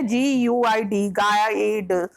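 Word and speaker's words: guide: गाइड में you later silent है, उसका कोई मतलब नहीं निकल रहा है इसमें। GUID, गाइड, यू का कोई मीन्स नहीं आ रहा है।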